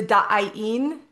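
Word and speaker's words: Da'aen: But today I want to get into the da'in. Da'in. It's a sound, it's a frequency, it's not a word, but it is spelled D-A apostrophe A-E-N.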